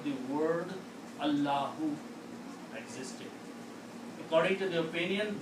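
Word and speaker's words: الله: So don't pronounce this alif here. And now what is it? What is left here? Allahu. Allahu.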